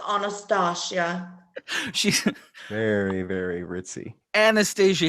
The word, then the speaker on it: Anastasia: It's pronounced Anastasia.